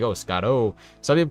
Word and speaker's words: Scotto: Like, oh, Scotto. Some people call it Scotto, too. That's the common one when people mispronounce it. But it's literally Scott with an O. That's how you say my name.